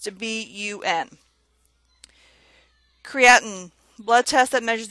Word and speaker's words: BUN: of it the abbreviation B UN for blood urea nitrogen is commonly used in the healthcare setting it is pronounced letter by letter B U and not